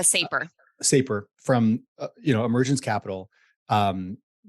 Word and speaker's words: Saper: You co-authored an article with Jake Sapper, I think if I'm pronouncing his name correctly, Yeah, uh, Saper.